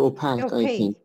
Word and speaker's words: opaque: the other one transparent opaque transparent yes no i mean yeah and the pronunciation is opaque yes or opaque i think we discussed this before it's opaque at least in american english and opaque as you